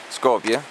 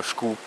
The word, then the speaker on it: Skopje: Skopje, anche se la pronuncia albanese è quella che si avvicina di più al nome romano, perché gli albanesi dicono Skup, il nome romano era Skupi, però Skopje, Kumanovo, ripetiamo, Kumanovo, benissimo, bravissimi.